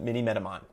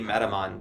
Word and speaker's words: Minimetamon: If you'd like to, here is my long AMA with Nick from Minimetamon.